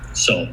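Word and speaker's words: Seoul: Now, do we sacrifice uh soul seal? How do you say it? Soul. Soul. Just Yeah.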